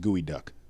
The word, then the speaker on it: geoduck: yeah geoduck yeah so it's g-e-o yeah but it's it's pronounced gooey duck okay and there's this